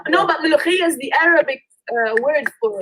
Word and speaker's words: molokhia: Yeah, I think it's molokhia. And Layu, how you say it in Nubian? Yeah, it's mulkia actually. I was trying to remember it. It's mulkia. It's in Nubi we call it layu, but it's mulkia.